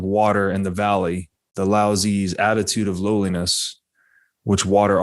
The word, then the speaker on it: Laozi: different pronunciations yeah and i've always read him pronounced lao zoo in other texts so i guess lassie yeah so we'll go with lao zee here so from lao zee who wrote the